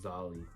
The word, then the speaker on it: Zale: oh no no no z-a-l-e z-a-l-e I think it's pronounced zolly no I like zolly